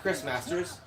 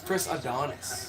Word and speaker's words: Chris Adonis: It's not Chris Masters. It's Chris Adonis.